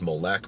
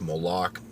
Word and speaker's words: Moloch: And one of the gods that's specifically mentioned is Moloch, right? It can be pronounced Molech, Moloch.